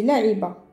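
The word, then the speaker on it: لعب: Jouer, c'est la'iba. Alors, jouer le verbe, c'est la'iba. Là. Là, on entend la lettre aïn.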